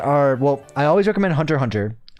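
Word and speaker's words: Hunter × Hunter: Um, a few of my favorite animes are Well, I always recommend Hunter Hunter. It's um Hunter X Hunter, but you don't pronounce the X.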